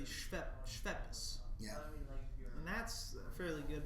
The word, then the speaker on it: Schweppes: Usually people pronounce it Schweppes. Schweppes? But it should be Schweppes.